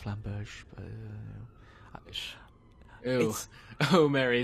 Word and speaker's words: Flamberge: Also, I kind of want to buy a Flamberg. I know it's pronounced Flamberge, but...